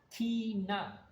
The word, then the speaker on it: Tina: Tina, in Spanish, the I is pronounced like double E in the word C, so it's Tina. ¿Correcto? T-I-N-A.